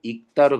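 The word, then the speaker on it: 읽다: 어간 받침이지만 뒤에 기억이 없기 때문에 어 원칙대로 익다로 발음해야 돼.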